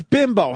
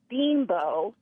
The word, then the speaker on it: Bimbo: It's pronounced Bimbo, and there's a whole commercial. You should play the theme song. It's ridiculous. There's a commercial? Oh, yeah. Bimbo. But it's Yeah. spelled bimbo. But they say it like, hey, a bimbo.